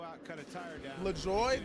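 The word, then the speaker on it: LaJoie: cut a tire down la joy that's really how you say his name that's not what that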